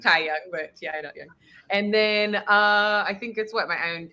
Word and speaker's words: Ti Young: It's pronounced tay young, but ti.you.